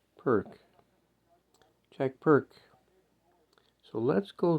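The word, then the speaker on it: Pirc: P-I-R-C, pronounced perk.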